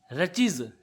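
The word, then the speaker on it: wretches: रचीज, टी इसमें silent है।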